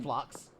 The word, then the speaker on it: Phlox: I mean, it's spelled like Phlox. That's how it's pronounced.